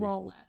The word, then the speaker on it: Rowlett: Is it Rowlett or roulette? Let me see how it's spelled. It's Rowlett.